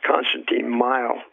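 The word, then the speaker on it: Konstantin Meyl: And I believe his name is Constantine Mile.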